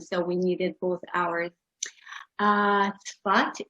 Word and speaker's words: Zfat: Zfat is the Hebrew pronunciation of the name of the town. The English pronunciation is Stafford, and this is why I included it.